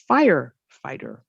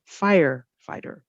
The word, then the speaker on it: firefighter: So on compound words, the stress is on the first word. So we say firefighter, firefighter. Same thing here.